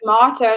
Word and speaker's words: tomato: So tomato is American English, and tomato is British English.